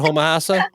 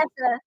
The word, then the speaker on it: Homosassa: Is that how you say it? Homahassa? Homosassa? Homosassa.